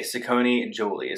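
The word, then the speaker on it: Saccone-Joly: Saccone Joly. Yeah, okay, Saccone Joly.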